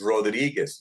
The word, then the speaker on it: Rodriguez: It's Rodriguez. No, it's Rodriguez. Roll your R's. There's a Z at the end.